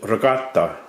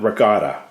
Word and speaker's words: ricotta: have Regatta cheese now if you're Italian you pronounce it Regatta not Regatta okay I also have